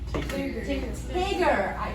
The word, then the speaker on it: Tigger: How do we pronounce this word? Come on. This one. Tigger.